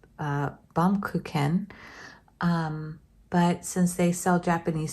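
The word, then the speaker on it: Baumkuchen: It is a German word, so if you want to pronounce it the German way, I believe it's Baum-kuchen.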